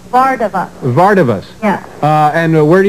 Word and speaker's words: Vardavas: How do you pronounce that last name? Vardavas.